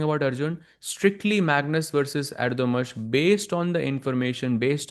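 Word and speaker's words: Erdoğmuş: That is, as somebody pointed out, Erdogmus is the correct pronunciation.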